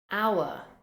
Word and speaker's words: hour: with a silent h hour hour you can see there is an H at the beginning of this word but we do not say how the H is completely silent hour hour honest honest